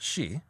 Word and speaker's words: sidhe: And when I say she, it's that word that looks like sidhe, and it's actually pronounced she.